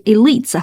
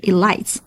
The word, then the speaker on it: elites: snubbed by the elites， OK，这是 elites 发的长音的 e，不是 I，不是 elites。